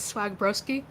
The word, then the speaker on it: Swagbroski: Hi, otherwise known as Swagbroski. That's how it's pronounced.